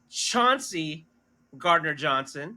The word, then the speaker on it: Chauncey Gardner-Johnson: But we did sign Chauncey Gardner-Johnson, right?